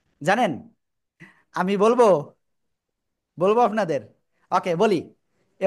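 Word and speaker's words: ب: ওকে এই যে দেখেন দুই ঠোঁটের ভিজা অংশ থেকে বা অক্ষরটা উচ্চারণ হবে বা এক আলিফ টেনে পড়তে হবে কয় আলিফ এক আলিফ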